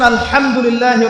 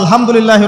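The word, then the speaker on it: الحمد لله: আলহামদুলিল্লাহ, শব্দটা কি আলহামদুলিল্লাহ, এই হা এর মাখরাজ কোথায়? হা এর মাখরাজ কোথায় বলেন একজন? কণ্ঠনালীর মাঝখান থেকে। এখান থেকে আপনি উচ্চারণ করছেন আলহামদুলিল্লাহ রাব্বিল আলামিন, অর্থ দাঁড়াচ্ছে সমস্ত প্রশংসা জগৎসমূহের রব আল্লাহর জন্য, ঠিক আছে?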